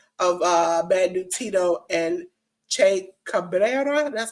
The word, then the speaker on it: Che Cabrera: Dominic Gennari and Kevin Koo defeated the Wolf Zaddies of Bad Dude Tito and Che Cabrera. That's how you pronounce it?